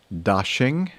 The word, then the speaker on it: Daxing: Beijing's Daxing, D-A-X-I-N-G airport, PKX, excuse me. Yes, just think of Christmas and dashing through the snow.